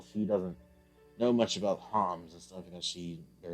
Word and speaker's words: Homs: Melia is a high Entian Homs, or human.